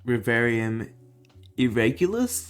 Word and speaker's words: Reverium Irregularis: pretty risky trade so i saw um honda's rivarium irregulous that's how you say it but i saw